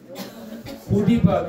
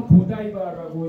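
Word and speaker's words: Godiva: 고디바 또는 고다이바라고 읽는데 초콜릿이죠.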